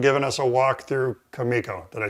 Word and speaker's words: Kumiko: So thanks for the time and bringing this cool stuff and giving us a walk through Kumiko.